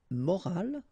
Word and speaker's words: morale: the same way, but in that case you've got this at the end, which is silent, so you don't pronounce it.